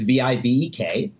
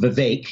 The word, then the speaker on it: Vivek: My name is V-I-V-E-K, and it's pronounced Vivek is the correct way to say it, but it looks like Vivek.